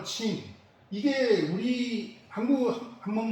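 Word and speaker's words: 秦: 통일한 진, 중국 발음으로 친, 이게 우리 한문 발음으로는 두 진나라가 다 진나라지만 여기 삼가 분진의 진은 찐이고 천하통일한 진나라는 친이라고 발음하기 때문에 구별이 되죠.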